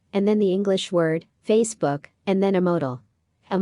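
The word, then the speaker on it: 非死不可: Facebook sounds exactly like Facebook in Chinese, which means bound to die.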